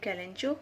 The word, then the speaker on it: kalanchoe: Today we're gonna talk about kalanchoe or kalanchoe. Many people get confused in the pronunciation whether it's kalanchoe or kalanchoe. British people pronounce it as kalanchoe and American pronounce it as kalanchoe.